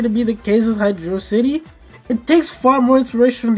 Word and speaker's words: Hydro City: we're moving on to Hydrocity from Sonic 3, baby! I know I said Hydrocity, but it is Hydro City. Sure, Hydrocity sounds cooler, but in every other language, especially the Japanese, it's Hydro City.